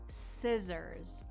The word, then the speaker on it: scissors: Scissors. And that double S is going to give you more of a Z sound, scissors.